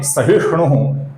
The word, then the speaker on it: सहिष्णु: फिर नाम है सहिष्णु, यहां पर ही ह्रस्व है और श अक्षर है दोस्तों, ये श नहीं है, सहिष्णु नहीं है, सहिष्णु है, ही ह्रस्व है।